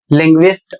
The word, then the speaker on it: linguist: जैसे शब्द है LANGUAGE, इसमें यू पढ़ा जा रहा है और यू का उच्चारण हो रहा है वह, लैंग्वेज, और इसकी हिंदी होती है भाषा। LINGUIST, लिंग्विस्ट, और इसका अर्थ होता है भाषाविद या फिर भाषा विज्ञानी।